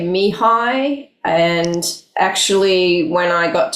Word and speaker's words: Mihaly: I just know that you worked with Mihaly.